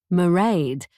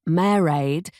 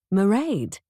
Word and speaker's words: Mairéad: He got her name right. Merade. Not married. Not Marriad, but a confident Merade.